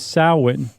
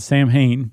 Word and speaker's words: Samhain: And in particular, there was Samhain, which forever I've always said Samhain because that's how it's spelled.